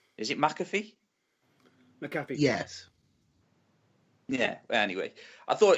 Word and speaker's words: McAfee: Era versus Team McAfee, or McAfee, however you pronounce his name. Is it McAfee? McAfee.